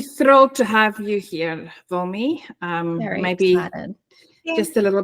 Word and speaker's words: Wilmi: So today we are talking to Wilmi. Am I pronouncing that? Yeah. Wilmi.